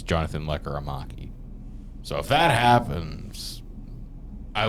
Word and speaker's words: Lekkerimäki: be part of the deal, and it's Jonathan Lekkerimäki.